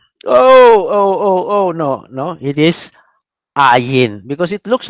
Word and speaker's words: ayin: also sounds like Y, Ayin. Oh, they will remember Y. That's not Y. It is Ayin, not pronounced.